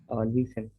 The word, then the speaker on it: nuisance: For the young, for the description of younger brothers and sisters, is she a hmm, yeah, uh, how to pronounce this word? That is called nuisance. Nuisance.